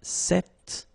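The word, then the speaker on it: cet: it's quite interesting because if you listen carefully the masculine form here set and the feminine form here set you write them differently but then you pronounce them the same way all right for the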